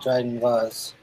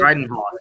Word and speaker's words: Dryden Voss: In Solo, a Star Wars story, who played the gangster Dryden Voss? Voss. Good old Dryden Voss. Oh, okay, I got it right the first time. Thank you. Yeah, you got it good. Dryden Voss.